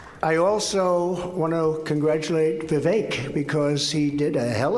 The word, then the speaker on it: Vivek: I also want to congratulate Vivek because he did a hell of a job. Rhymes with cake.